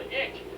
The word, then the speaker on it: ich: It makes them real susceptible to ick. That's spelled ICH.